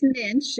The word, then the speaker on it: Muench: I have pronounce it it's Minch it rhymes with pinch so Minch I'm